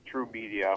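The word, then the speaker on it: Trve Media: label called it's called it's spelled TR ve and then media it's called through media with a V you don serpents Facebook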